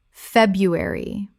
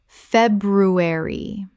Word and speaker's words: February: February. Common mispronunciation. Feb-ru-ary. Correct pronunciation. February. The first R is silent in natural spoken English.